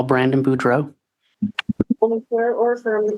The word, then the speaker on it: Boudreaux: Can you state your name and spell it for the record? My name is Brandon Boudreau.